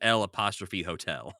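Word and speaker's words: L'Hôtel: Le Hotel. I mean, that's the closest my terrible American mouth can come to pronouncing it, but it is L''Hotel.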